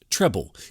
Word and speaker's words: treble: The treble clef sounds like trouble, but it's pronounced treble.